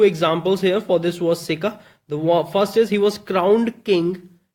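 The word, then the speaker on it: circa: know it's a preposition and it's pronunciation is sicker it's sicker that's how it is spoken sicker okay now it is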